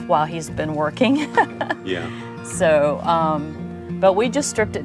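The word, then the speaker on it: Sew: It's called So Fun Homestead, S-E-W Fun Homestead. So Fun Homestead, Yes. and so is spelled S-E-W.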